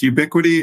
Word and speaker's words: UbiQD: It's pronounced UbiQD.